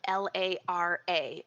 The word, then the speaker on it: Lara: And Laura, if you want to look her up, anybody um Laura is spelled l a r a and as Laura, I know you yourself say like a Lara bar.